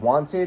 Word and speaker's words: Wyanted: I run a channel called Wanted. It's spelled wyanted.